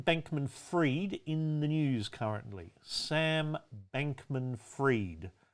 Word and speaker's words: Sam Bankman-Fried: Sam Bankman-Fried. Fried is spelt fried, like an egg.